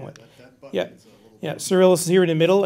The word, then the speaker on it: Cyrillus: And next is crater, how do you pronounce it? Cyrillus.